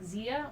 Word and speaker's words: Xia: XIA Flame is followed. Thank you! I think that's pronounced like Zia or Shia.